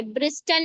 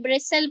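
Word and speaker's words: bristle: कैसे जी टी is silent before L देखिए एपोसल एपोस्टल नहीं टी साइलेंट हो गया एपोसल पढ़ेंगे ब्रिस्टल नहीं ब्रिसल पढ़ेंगे बस्टल नहीं बसल पढ़ेंगे।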